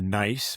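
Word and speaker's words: gneiss: You mentioned in the Vai Canton of Switzerland, the nice, by the way, that's spelled G N I SS.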